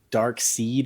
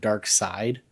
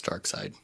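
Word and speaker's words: Darkseid: it is spelled weird some people say dark seed instead of dark side it's dark side it's dark side but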